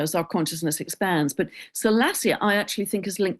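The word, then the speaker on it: Salacia: And Salassia is another one. Salassia in myth is mermaid energy.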